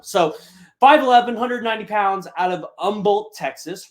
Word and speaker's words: Humble: 5110 pounds out of Umble Texas remember it's not humble the H is silent so it's Umble Texas not going to